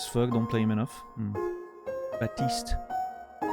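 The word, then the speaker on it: Baptiste: don't play him enough batist it's funny people call him Bap because you wouldn't pronounce the P usually right is he French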